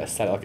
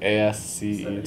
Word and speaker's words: ascetic: I never know if it's a hard C. No, the word ascetic, ASCETIC, yeah, ascetic, yeah.